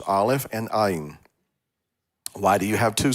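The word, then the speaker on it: עין: But Ayin does not have a consonantal sound of its own. It takes on the sound of the vowel point that it's connected to, and whatever the word may be.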